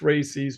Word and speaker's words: RACES: Other agencies, it's pronounced RACES by us hams.